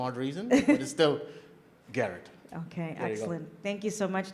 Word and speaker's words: Gharat: Garrett Ghar 80 the H is silent by the way for some odd reason it is still Garrett okay thank you so